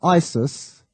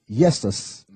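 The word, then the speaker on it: Iesus: the name Jesus but the I wasn't pronounced as a i it was pronounced as a y so it's not Isis it's yesus which there's two ways of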